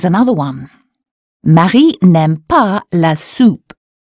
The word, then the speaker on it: soupe: Marie n'aime pas la soupe. U or U? That's right, there's an OU in soup, so the sound is OO. Marie n'aime pas la soupe.